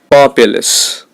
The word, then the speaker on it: populace: to the general populace the stress is on the first syllable populace plan distant the stress